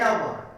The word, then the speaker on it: hour: hour every morning an hour H is silent all sound it is